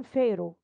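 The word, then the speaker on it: pharaoh: فرعون فيرو، البيتش بتجيب فيها والاتش ده سايلنت، فيرو.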